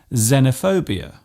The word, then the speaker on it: xenophobia: It often starts a word by being pronounced as Z, such as in xylophone and xenophobia.